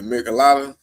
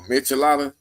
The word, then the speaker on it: michelada: Man, he said, I need a michelada or michelada. That's how you say it. I said michelada.